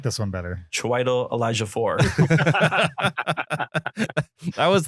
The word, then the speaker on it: Chiwetel Ejiofor: Chiwetel Ejiofor. So the Ejiofor part's right. Hi, I'm Chiwetel Ejiofor. Yeah, Like that? There you go. Hi, I'm Chiwetel Ejiofor. I like this one better. Chiwetel Ejiofor.